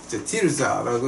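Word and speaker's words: Tirzah: 이제 이걸 갖다 이제 원어를 보게 되면 티르자라고 이제 원어는 그렇게 히브리어는 그렇게 발음이 돼요.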